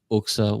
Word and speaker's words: Oxa: I relay that into what Oxa, or pronounce Uxa, what she has with Mocha.